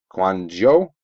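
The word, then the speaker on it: Kouandjio: number to 99 card on the back Cyrus quano that's how you pronounce it first hit pack number five nasty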